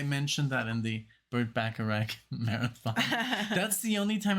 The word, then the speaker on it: Bacharach: And it's so funny because I had to look it up how to pronounce Bacharach because it's Bach, like Bach, like Johann Sebastian Bach.